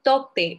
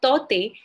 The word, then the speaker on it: Tauktae: Cyclone Tauktae, or Taute, as you like to pronounce it, is nearing the coast of.